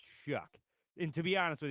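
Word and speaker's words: Shough: Is it show? I've heard it pron I've heard it pronounced Shaw and show.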